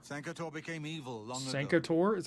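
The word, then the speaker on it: Sancre Tor: Santor is how that's pronounced.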